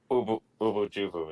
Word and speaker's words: Ubu Jubu: Ubu Jubu is how it's Ubu pronounced.